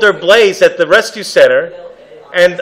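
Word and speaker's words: Blaise: I'm calling her Blaze Blaze Pascal Blaze Pascal oh Blaze Pascal is spelled not BL a z as they thought BL a a i s e right so yeah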